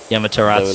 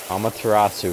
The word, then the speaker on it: Amaterasu: Yamaterasu so beat everyone. Amaterasu, first off, say it correctly.